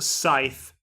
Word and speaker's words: scythe: Okay, it's pronounced scythe. Yeah, scythe. Scythe. It's not a potato thing. Hey, Icy Pal. Say scythe. Scythe. Okay. Honestly, I've heard both versions being used.